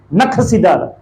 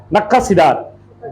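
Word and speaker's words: नक्काशीदार: दंडवत करने के लिए नखसीदार प्रोनाउंसिएशन सही है? नखसीदार है ना, बड़ा अजीब है ना जी। नक्कासीदार, जिसको तराश के बनाना या खोद के बनाना, या तो छीनी हथौड़े से, नक्कासीदार या नक्कासीदार। पत्थर स्थापन करना, क्योंकि मैं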